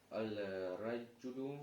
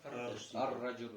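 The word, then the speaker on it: الرجل: Аль-раджуду. Даже харакаты есть, неправильно прочитал. неправильно прочитал. Ро, какая буква? Шамсия или хамария? Шамс. Шамсия? Значит, аль не читается, да? А как читается? Ар-раджуду.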